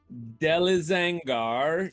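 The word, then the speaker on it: Delizangar: of eberron say his name one more time delezangar d-e-l-i-z-a-n-g-a-r inca i-n-k-a okay and he um you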